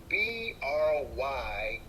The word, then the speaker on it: Brynn: So my granddaughter's middle name is spelled Brynn. So we pronounce it Bryn, but phonetically it's Brian.